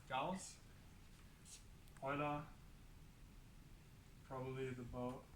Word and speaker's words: Gauss: you might know people okay so cows the German sharp s English like this so that's cows hold on probably the